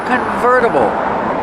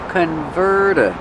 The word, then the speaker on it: convertible: It's a convertible. Pronunciation, converta. Verta. Use a fast D.